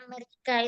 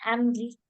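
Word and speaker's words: أمريكا: Karena Amerika itu namanya memang Amerika gitu susah kita membacanya Ameriki.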